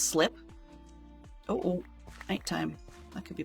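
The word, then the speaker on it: slype: Right, it's called well, it's spelled S-L-Y-P-E. I'm going to assume that's pronounced slip.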